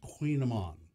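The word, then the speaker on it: Kouign-amann: But I just Kouign -AMANN. Pronounced Queen Amman, right?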